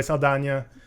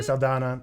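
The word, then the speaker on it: Saldaña: well as others cam it is Zoe Saldana it's not Zoe Saldana yeah it has an Enya that's pronounced and I also watched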